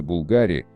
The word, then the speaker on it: Bulgari: Бренд итальянский, поэтому произносится Булгари, а не как многие произносят Булгари или Булгари.